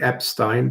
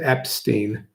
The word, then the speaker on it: Epstein: want to pronounce it it is a German name so it would be Epstein but a lot of people pronounce it Epstein couch potato those Kennedy